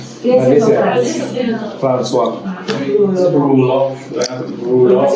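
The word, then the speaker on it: rouleaux: Rulox, sin pronunciar la X.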